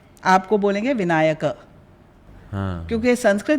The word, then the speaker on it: विनायकः: तो रामः, जैसे आपका नाम होएगा विनायकः, विनायक नहीं। हाँ। राइट। हिंदी में विनायक बन जाता है, हाँ। पर एक्चुअल नाम आपका है विनायकः। हाँ। और अगर संबोधन में आपको बोलेंगे विनायक, क्योंकि संस्कृत में कोई